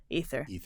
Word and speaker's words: ether: And so we still see it in words like ether, or people want to pronounce it into the aether, but it's actually just ether.